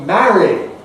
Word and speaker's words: marry: And that means that not only Mary and Merry, but also marry, get wed, become the same. And so you get Mary, Mary, Mary, all three of them the same.